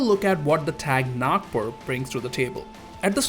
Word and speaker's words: Nagpur: So today we are going to look at one of the less known Formables in game, Nagpur, and that is the correct way to pronounce it.